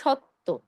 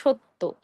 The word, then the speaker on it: সত্য: কলি আবার দেখুন ধন্যবাদ আমরা অনেকে উচ্চারণ করি সত্য আসলে সঠিক উচ্চারণ হবে সত্য সত্য নয় কেন কেন আমরা সত্য